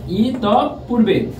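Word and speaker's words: ইতঃপূর্বে: আছে ইত পূর্বে ভিউয়ার্স এটার উচ্চারণ নীতি হবে ইত পূর্বে ভিউয়ার্স ই তপ পূর্বে ভিউয়ার্স একটু লক্ষ্য করো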